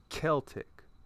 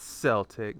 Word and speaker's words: Celtic: Actually, that's pronounced Celtic. Not Celtic, not like the Boston Celtics.